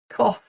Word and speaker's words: cough: O U G can also be pronounced off. off. Just like the word on and off as in cough. Cough.